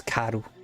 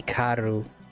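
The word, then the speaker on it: caro: I'm saying it Englishified, but the pronunciation in Portuguese ku. Well, it's the same thing. K. You would say if you're saying fast, you'd say car, but like if you're pronouncing it, it would be ku.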